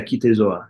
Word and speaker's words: Kite Zo A: Is it KITE ZO A, Leaving the Bones? Did I pronounce it properly? Yeah, KITE ZO A.